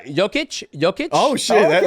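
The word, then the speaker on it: Jokić: It's Jokic. Oh shit! Okay, Jokic.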